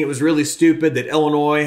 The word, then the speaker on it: Illinois: was really stupid that illinois has a silent s at the end of it and and